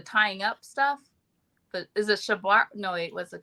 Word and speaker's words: shibari: Is it shibari? No, wait, what's it called? Yeah, you said it right, shibari.